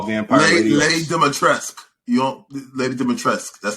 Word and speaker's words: Dimitrescu: Lady Dimitrescu. That's how you pronounce it.